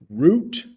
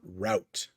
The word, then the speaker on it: route: All right, the next one's a little tough because depending on what part of the United States you are in, you might hear 2 pronunciations. So, route or route.